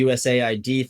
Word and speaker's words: USAID: like yeah, it wasn't US aid. It was like USA ID.